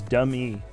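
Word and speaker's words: Dum-E: the robot arm is dummy dummy he just called him dummy but it's spelled d um - because he's a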